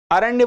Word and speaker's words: अरण्य: तो देखिए हसदेव अरण्य फॉरेस्ट, अरण्य बोलते हैं, स्पेलिंग इंग्लिश में अलग रहती है।